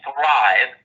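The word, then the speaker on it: Thryv: And I'm so glad that I harnessed the power of something called Thrive, that's spelled T-H-R-Y-V, back in August of 2019, not quite a year ago.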